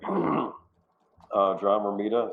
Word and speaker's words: John Romita: John Romita, is that how you pronounce his name?